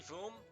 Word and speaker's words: Vom: you pronounce it correctly Voom vom is fine it's like vomit vom yes vom perfect you